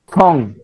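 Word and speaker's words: 从: এটা কি উচ্চারণটা কি হবে রবিল ভাই? ছং, ছং, ছং ছং, ছং মানে হচ্ছে ছং।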